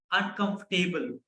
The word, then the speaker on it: uncomfortable: So I have seen a lot of people pronounce this word as uncomfortable or comfortable. Let me tell you, there is no table in the end.